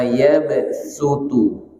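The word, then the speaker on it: يبصط: Wallahu yaqbidu wa yabsutu itu tulisannya pakai shad, tapi bacanya wa yabsutu pakai sin.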